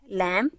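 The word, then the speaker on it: lamb: इसमें भी जी silent लैम इसमें भी बी साइलेंट है सो दज आर द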